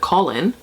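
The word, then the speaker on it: Kahlen: sorry but it's true it's like colin k a h l e n i think it's how it's spelt but in the audiobook it just sounds like colin like call in the boy's name and then so she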